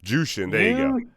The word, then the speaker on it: Jushin: Jushin? I don't know how to say his. Jushin.